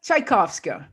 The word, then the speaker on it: Czajkowska: want you to welcome my guest today marta tchaikovska i can't believe you spoke my name right and pronounce it you know that's it's a tough